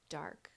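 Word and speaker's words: Darc: Studio dark on Instagram d-a-r-c pronounced dark um and uh Camp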